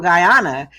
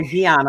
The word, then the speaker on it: Guyana: her dad was from Guyana and or Gana I'm not sure how to pronounce I think it's Guyana and her friend she said